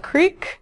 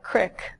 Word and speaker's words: creek: you pronounce these words we were thinking Milan Deli and Creek which is what I would say but if you're in Michigan it would be Milan Delhi and Crick and so another thing